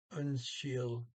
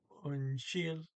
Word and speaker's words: Unnskyld: Okay, and unshield, you got a SK before a Y, so it becomes an SH, and it's the harder SH. So unshield, and the D on the end there is not pronounced.